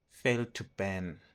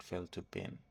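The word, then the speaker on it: fail2ban: Then we also learned how to do privilege escalation with fail to ban. Fail to ban. I was pronouncing it wrong. It was fail to ban, not fail to bin.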